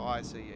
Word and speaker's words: ICE: It's not an ice. It's not an ice train. All right. Do not pronounce it like that. Zug nach Warschauer Straße. It's ICE.